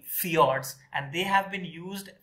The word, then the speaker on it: fjords: this is known as fjords f j o r d s f i o r d s many times so this j is pronounced as y so in norway and